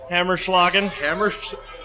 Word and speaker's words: Hammerschlagen: We do have the how do you pronounce that again? Hammerschlagen.